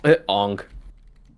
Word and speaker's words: Aang: How do you spell that man's name? Two A's, one N. Oh, Aang. Yeah, Ong.